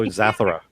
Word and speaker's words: Zathura: Oh, Zathura.